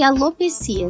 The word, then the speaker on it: alopecia: é a pronúncia correta eu gosto de alopecia sem sem o acento né então alopecia essa